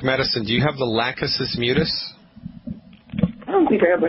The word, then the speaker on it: Lachesis mutus: Lachesis mutus.